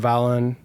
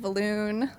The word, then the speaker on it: Valon: Let's let's talk about Valon. Uh, is that how you pronounce the name of the company?